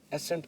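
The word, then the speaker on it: ascent: एसेंट। अब इस word को भी हम एसेंट पढ़ेंगे। सी की आवाज को साइलेंट रखेंगे।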